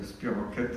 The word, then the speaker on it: spirochète: C'est un groupe qu'on appelle spirochète, ça s'écrit spirochète, mais ça se prononce spirochète en grec.